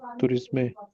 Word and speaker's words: tourisme: Un gritteur est un professionnel du tourisme. Anup, we never pronounce E in the last, no? So it won't be A, tourisme. No. Tourisme. Tourisme.